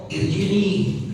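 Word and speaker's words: ارجعي: Nah, yang penting juga di sini disampaikan ketika dibaca wasal ya ayyatuhan mutmainnah irji'i. Gimana caranya? Caranya adalah ketika wasal kasrahnya dihilangin. Kasrnya diilangin jadi langsung ke huruf ro seakan-akan alifnya itu enggak ada.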